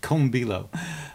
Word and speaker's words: Kombilo: There was instructions on how to pronounce it. Comilo.